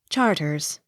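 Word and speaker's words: Charteris: h a r t e r i s charters c h o l m e l e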